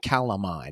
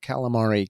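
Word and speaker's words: Calamai: I pronounce it correctly CI calami not calamari calami this guy an appetizer what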